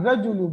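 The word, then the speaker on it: الرجل: from kamar aljidu al rajulu because rajulun starts with ra and ra is from shamsia so I will not pronounce lamb I'll say rajulu I will say rajulu now scene is again from Shamsia.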